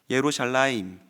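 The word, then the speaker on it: ירושלים: 예수님은이 도시를 보고 우셨습니다이 예루살렘을 히브리어에 가깝게 발음해 보면 예루샬라임입니다 예루샬라임 이미 발음해도 유추할 수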